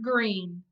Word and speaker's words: Greene: name is goony bird green that's green with a silent e at the end and I just moved